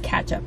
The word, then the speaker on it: ketchup: And it's pronounced catch-up, not ketchup. It's catch-up. Like catch-up host.